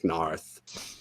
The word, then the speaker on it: Noth: So, but anyway, we had the Unsullied going to Noth. It's spelled Noth, but everyone has a Britishy accent, so it sounds like Narth.